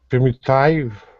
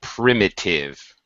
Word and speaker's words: primitive: Primitive. Okay, short I, primitive. Primitive. All short I's actually.